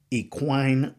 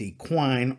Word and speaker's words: equine: dysfunctional term number six equine therapy EQ you I in E now you will hear it pronounced equine or equine I really don't care how you enunciate it the fact is